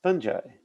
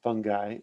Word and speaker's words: fungi: uh in eukaryotes is fungi or fungi actually both are correct pronunciations these guys are eukaryotes